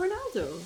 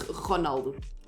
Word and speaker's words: Ronaldo: That's the it's Ronaldo. You hard R that stuff. Yeah. But in English you say Ronaldo. Yeah, his name is like kinda. It's like Cristiano Ronaldo. That's how you say it. That's his name in Portuguese, yeah.